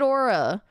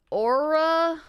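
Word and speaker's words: Oura: No, it's like Aura. I think it's pronounced Aura. I say Aura or Aura.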